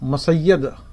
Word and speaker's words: مسجد: نجد میں رہتے تھے وہ جیم کا تلفظ یا سے کرتے تھے۔ وہ مسجد کو مسید اور شجرات کو سرات کہتے تھے۔ اسی طرح بنو تمیم